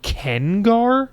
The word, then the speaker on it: Gengar: Pronounce Gen like Ken. They say Kengar.